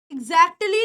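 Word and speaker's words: exactly: एक्ली इसमें टी की साउंड है ना ऑलमोस्ट साइलेंट है एगजैक्टली नहीं बोलते इट इज ऑलमोस्ट साइलेंट लेकिन होती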